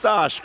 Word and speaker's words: Stash: for stash the intact it's pronounced stosh Cole he's polish oh it's stosh I